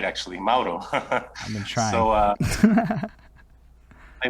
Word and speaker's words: Mauro: You said it right, actually, Mauro.